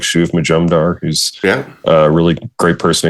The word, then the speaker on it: Shuv Majumdar: Shuv Majumdar, did I say his name right?